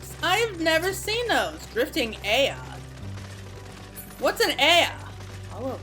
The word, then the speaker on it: Ea: When the vibration of local vocal folds was still required to convey our thoughts and intentions, Aya, I believe, was the pronunciation used which referring to our people.